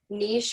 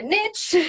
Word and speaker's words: niche: And it's just one of those things that I think also makes finding your niche, or as they say in America, niche.